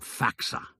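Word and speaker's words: FACSA: am deputy director at faxa an agency dedicated to preventing corruption in sport he pronounced it faxa as a word rather than speaking out each of the letters in turn I noded we have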